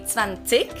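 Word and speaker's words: zwanzig: 20 in german it's the zv sound again it's van sick also there's another pronunciation thing a lot of germans uh change so they don't really say tsvantik they say they make the g at the end not as harsh they soften it up with a little ch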